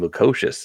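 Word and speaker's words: Lukošius: I pronounce that last name, Lukosius. That's not how I would have guessed, but I'll take it.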